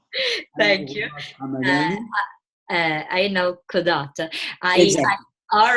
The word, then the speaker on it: Ayn al-Qazat: But I found I'm really shy about pronouncing the name of the Ayn al Quazat. Thank you. Ayn al Quazat.